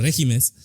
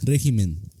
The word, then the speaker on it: regímenes: Los regímenes. Lo sigo pronunciando por Régimen. No, es que es regímenes. ¿Los regímenes? Regímenes. ¿Sí? ¿Sí? Sí, Regímenes. Es que lleva acento en la I.